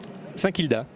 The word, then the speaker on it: Saint-Kilda: Comment on le prononce, Guilde? Saint-Kilda.